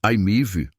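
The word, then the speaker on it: i-MiEV: Mitsubishi IMV, lançado em 2009, o IMIV, pronuncia-se Aimiv, foi um dos primeiros carros totalmente elétricos produzidos em massa.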